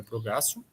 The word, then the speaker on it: abrogatio: Então, existe a revogação total da lei, também conhecido como abrrogação ou abrogatio, né, escreve abrogatio, mas a pronúncia é abrogatio, tá?